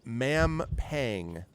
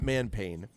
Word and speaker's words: Mampang: So, no, it's Mampang. Mampang. Not Manpain. Mampang. Mampang. I don't know how else to pronounce it. I'm pretty sure it's that. The Curse of Manpain. It is. The Curse of Manpain. No. M-A-M, Pang, like as in pangs of pain, pangs of love, pangs of despised office, etc.